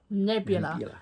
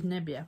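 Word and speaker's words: nebbia: is really funny cuz people keep getting our dog's name wrong calling neb neb neb keep calling nebia nebula and it's not she's nebia which is fog in Italian yes um but look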